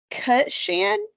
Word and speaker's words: Cutchin: It's Cutchin, Uh-huh. so you're just changing the pronunciation of the I.